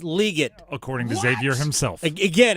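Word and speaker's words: Legette: It is pronounced Xavier Leggett, not Leggett, or not Leggett. It's Leggett.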